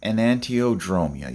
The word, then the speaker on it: enantiodromia: So, enantiodromia, yes, that's how you say it.